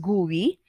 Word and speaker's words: GUI: use a graphical user interface or gui or pronounced as gui okay so a graphical user interface or commonly